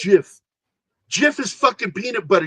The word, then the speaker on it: GIF: It's, you know, the G is a hard G. It's graphic interface file. It's GIF. No, it's GIF.